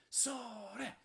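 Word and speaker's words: ソーレ: It's a two-syllable shout, sore.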